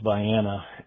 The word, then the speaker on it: Vienna: Lewisville was um uh the Vyana section or it's spelled what you and I would think of as Vienna and you probably are knew this too but uh it's Vyana and there's a road